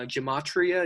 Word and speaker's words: gematria: and talk about you know that study uh gematria is how you pronounce dustin that talks about numbers representing a